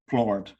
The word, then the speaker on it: Plourde: Today my guest, up early for me, please welcome Flohr.